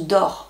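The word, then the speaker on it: Doerr: se non ça se ça se prononce d'or et ça s'écrit dohert c'est aux éditions Albin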